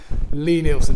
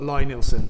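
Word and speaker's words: Lie-Nielsen: for all this time Lee Nielsen it is not line Ilsan I work in a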